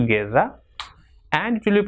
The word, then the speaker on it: guerra: If GU comes together, it will be pronounced as ge. If after U comes E, for example, guerra, and it will be